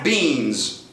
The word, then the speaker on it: bean: Este bean pode, por sua vez, ter exatamente a mesma pronúncia do particípio passado do verbo to be, da terceira coluna de to be, been.